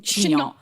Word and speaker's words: chignon: Can I wear a wig or like a chignon? 100%. Only if you keep saying chignon.